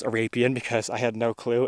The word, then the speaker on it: Arapien: Um I did consult with a geologist for this, though, most only really on how to pronounce Arapeen because I had no clue and couldn't find a literature, so thanks to Sarah Z.